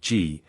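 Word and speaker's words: gee: A G or G, it is pronounced G, the accomplice of a cheapjack, who stimulates trade by pretending to buy something.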